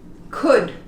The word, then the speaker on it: could: When we have it like this, we don't pronounce it. Could.